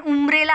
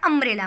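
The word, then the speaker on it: umbrella: तुम्ही अमरेला हे पण लक्षात ठेवा, कारण त्याच्यामध्ये यू जरी असतं तरी त्याला आपण उमरेला असं म्हणत नाही, त्याला आपण अमरेला म्हणतो.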